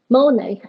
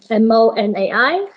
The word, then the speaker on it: MONAI: in healthcare setting including monet i hope i have pronounced that correctly it's monai it's a software package